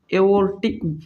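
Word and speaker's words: aortic: तो ओर्टिक, या इसमें आर साइलेंट होता है, जब बोलते हैं ना, तब प्रोनाउंस करते हैं ना, तो आर साइलेंट होता है। तो एओर्टिक या ओर्टिक वाल्व कह सकते हो आप इसे।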